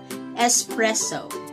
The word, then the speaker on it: espresso: right it is espresso espresso so from for some reason many people put an x sound into this word but please resist do